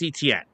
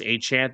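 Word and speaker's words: Etienne: Okay, let's go sign Travis ETN who just came off a great year in Jacksonville. And yes, I know he said that the actual pronunciation of his name is Travis Achant.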